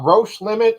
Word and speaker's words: Roche Limit: as far as comics go he's written uh roche limit am i pronouncing that right nailed it yeah nailed it